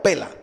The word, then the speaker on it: Pella: Se escribe P-E-L-L-A. Pella o Pela.